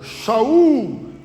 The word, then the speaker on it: Shaul: Saul, ou Shaul, é a pronúncia essa.